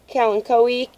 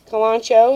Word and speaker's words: Kalanchoe: your Jade's this is a little kalanchoe eek Kalan show however you want to pronounce it people pronounce it different ways and this likes water